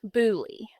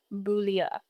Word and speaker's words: Beaulieu: And I will go back and say Priscilla's maiden name, in English, we would pronounce it Bouli. In French, because to me it looks very French, it's Boulia.